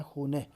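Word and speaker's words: خانه: کہتے ہیں گھر کو۔ خانے ہے، اس کا تلفظ آپ نے درست کرنا ہے، خونہ، تو آشپز خونہ۔ رسوئی، آشپز خونہ کے معنی کیا ہوں گے؟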